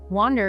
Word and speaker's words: wander: Wander is spelled W-A-N-D-E-R. The sound changes to a more open ah sound.